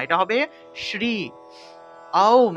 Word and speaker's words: ওম: ওম, আর এটা হবে ওম উচ্চারণ, অর্থাৎ আ দিয়ে আরম্ভ করবেন, অর্থাৎ মুখটা একদম বড় থেকে ছোট হবে, মুখটা একদম হা যদি করেন, বড় করেন, তাহলে দেখবেন আ উচ্চারণটা আসে, ওম, ওম, এইভাবে উচ্চারণটা হবে, ঠিক আছে?